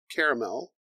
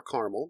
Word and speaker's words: caramel: Knob Creek typically offers strong notes of vanilla, caramel, or caramel, depending on how you say it.